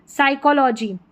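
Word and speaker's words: psychology: टॉर्मीगन तो P silent है। साइकोलॉजी क्या है?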